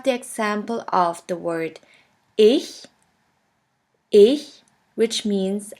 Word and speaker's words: ich: In the first case, this letter combination sounds simply like the H in the word huge. Here we have the example of the word ich, which means I.